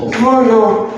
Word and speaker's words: воно: Vono, that's right.